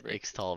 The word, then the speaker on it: Ixtal: Third game of the evening, we got Ionian Bladedancers versus I think that's pronounced Ixtal. Ixtal. It's Ixtal, bro.